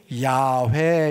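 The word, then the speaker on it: 야훼: 아호와 이렇게 된 거예요 그게 발음이 어떻게 되냐면 야회 이렇게 됐고 이것의 영어적인 표현이 여호와 이렇게 된 거예요 그래서 우리가 부르고 있는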